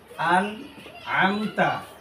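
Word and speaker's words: أنعمت: আমরা তাল্লাজিনা তাল্লাজিনা পড়বো নাজিনা আনতা আলাইহিম আবার আন আমতা আলাইহিম এখানে যেটা হয় আনে আমতা এখানে আছে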